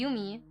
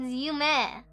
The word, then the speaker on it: Yume: Whenever I rated them and like, thank you, Yume Kuzukawa, and I'm like, oh, they called me Yumi. Like, oh, Yumi, and I'm like, it's Yume.